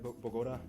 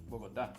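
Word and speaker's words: Bogotá: Diego, did I pronounce that right? Bogota? Nope. Bogota.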